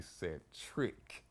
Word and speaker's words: Cetric: Okay, my mom named me Set Trick. CETRIC.